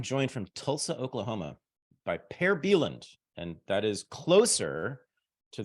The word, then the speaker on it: Per Bylund: I am joined from Tulsa, Oklahoma by Per Bylund, and that is closer to the real pronunciation, I understand, than what you're often called,